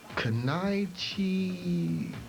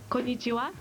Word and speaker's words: konnichiwa: Kanaichi something. It's pronounced konnichiwa.